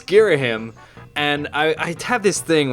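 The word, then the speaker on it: Ghirahim: And I know it's Girahim. And I have this thing where anytime I know I'm going to pronounce something, I could get it wrong.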